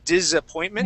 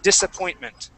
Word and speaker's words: disappointment: Okay, so in this word here, that S will not be pronounced like a Z. Okay, you had said disappointment. Yeah. Okay, it would be an S sound. We would say disappointment.